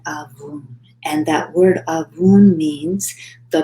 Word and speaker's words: Abwoon: So the word avun, spelled Abwoon, and I'm pronouncing it as well as I can. I think that's right.